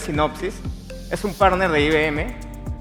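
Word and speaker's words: Synopsys: Eh, algunos creen que se pronuncia psicosis, pero en verdad es sinopsis.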